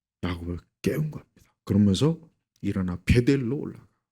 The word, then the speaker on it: 베델: 그러면서 일어나 베델로 올라가. 이 베델이라고 한 게 뭐냐? 하나님의 집이라는 거예요. 그래서 베트 집 그다음에 델 사실 좀 엘인데 히브리어 발음상은 델이란 저 그런 저 억양이 나와요.